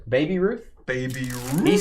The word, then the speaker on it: Baby Ruth: uh Phil's having a Babe Ruth oh you got to say it right Baby Ruth Baby Ruth he said